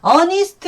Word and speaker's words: honest: 근데 honest man 하면은 H지만 발음이 H가 소리가 안 나요.